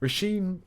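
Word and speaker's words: Róisín: which um I've very recently learned is actually pronounced rashim uh Machine by rashim Murphy uh I enjoyed this is one I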